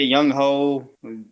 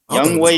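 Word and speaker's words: Younghoe: Young Way, whatever the name. They see they they they each say it both ways. That's great. Some say young hoe, some say the other way.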